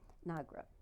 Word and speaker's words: Nagra: your star um and if you would please pronounce her name for me a piminda nagra paminda okay nagra was she a soccer player all the girls